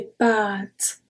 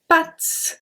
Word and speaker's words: pâtes: Because of the accent circumflex, we pronounce it longer. If you don't say pâtes, if you say pattes, it's the leg of an animal.